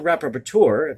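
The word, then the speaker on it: rapporteur: the un special counsel rapper tour that's how you pronounce that word r-a-p-p-o-r-t-u-e-r on contemporary forms of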